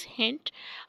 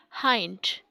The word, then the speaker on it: hind: Mostly people say is hint, or the modern English is all, or modern English people or Indian people or Pakistani are still using it as hint, but that right original pronunciation is hind.